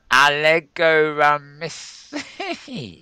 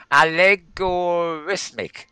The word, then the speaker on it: Allegorithmic: Um, Adobe have acquired a company called Allegoramis. I can't pronounce that. Allegorithmic.